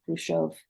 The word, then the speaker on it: Khrushchev: actors including I think kushov or Khrushchev is how we pronounce It in America himself that America